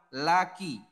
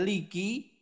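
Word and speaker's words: لَكِ: juga nanti ketika kamu perempuan laki bukan Liki namun laki kemudian selanjutnya lahu dan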